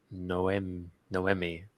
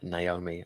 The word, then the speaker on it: Noemi: I think that name is actually French. It's Noemi. So I do apologize if I said Naomi.